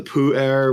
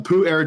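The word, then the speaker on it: Pu-erh: English breakfast and uh the Pooh air which I always think is the funniest pronunciation but I mean I know it sounds like Po or te it it sounds like a fart but uh the Pooh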